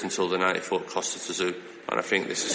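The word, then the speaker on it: Kostya Tszyu: Kostyachu. Well, apparently we've all been pronouncing it wrong because it's like a sneeze, isn't it, or something?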